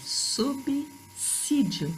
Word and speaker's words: subsídio: Muita gente falando subsídio, e não é. É subsídio, falem. Subsídio. Sub seguido de S tem pronúncia de 2 S's.